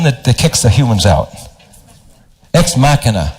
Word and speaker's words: Ex Machina: people have seen the movie x-man mechanic afiyah pronounced that ex mechanic is that the woman that kicks the humans out ex machina how many people say next machina all right